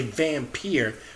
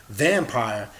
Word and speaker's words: vampyre: energy the gods and I remember being a vampeer or which somebody falsely pronounced vampire is somebody that's able to absorb the energy